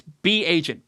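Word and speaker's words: Bagent: know Tyson pageant at first I called him agent I didn't know how to say his name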